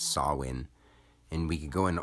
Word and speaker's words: Samhain: Harvest you could say sawin or some people think it's pronounced Sam Hayne but it's sawin and we could go